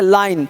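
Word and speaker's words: line: और देखिए क्या कर रहा है, यदि पूर्ववर्ती स्वर आई हो तो आई का उच्चारण आई होता है और अंतिम ई का अपना कोई साउंड नहीं होता। ये बहुत बढ़िया चीज़ है। जैसे लाइन, अब देखिए लाइन में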